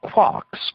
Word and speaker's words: quark: for mustermark the word Quark is supposed to be pronounced by quart but with a k at the end instead of a t it is used to